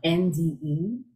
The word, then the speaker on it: Nde: It's spelled N-D-E, and it's pronounced as the second syllable of the word Monday, so Nde.